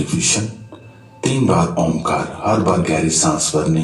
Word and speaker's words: ओम: ओ और उ शब्द पर हंठ खुले रहेंगे। म शब्द पर हंठ बंद हो गए।